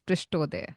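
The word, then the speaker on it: पृष्ठोदय: One is Shirshodaya and the other is Prishtodaya. Am I pronouncing it that correctly? Absolutely correct.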